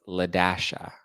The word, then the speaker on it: Ladasha: I met an employee named La-A, but pronounced Ladasha. Ladasha.